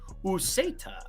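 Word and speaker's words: Uceta: Ukeda? Edwin Ukeda? I wasn't that far off. Yeah, you got it. Useta. That would be cool too, but I think it's Ukeda.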